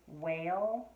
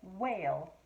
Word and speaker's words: whale: are totally right and the both of these are wh that h is silent you don't hear it when i say whistle or whale do you oh sneaky word all